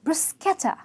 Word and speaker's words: bruschetta: coca it's cooked oh it's not brush Etta it's bruschetta a very delicate pronunciation bear press quetta it's